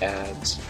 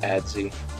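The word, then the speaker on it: adze: probably more focused around tis while using the ads uh the ads some people like to call it adsy but looked it up on the wiki it's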